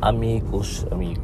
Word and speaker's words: amicus: Pero if you go back to the definition of Plato, sabi niya yung amicus, di ba? Kasi friend, amigo, amicus. Ano yan one soul in two bodies. Parang it rhymes with animus, no?